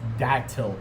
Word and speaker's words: Datil: can find a pronunciation it's datl dat pepper not dail it's Datil pepper just getting that out